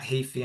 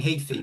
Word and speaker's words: Heafy: Oh, I think I keep saying Heafy, but it's Heafy.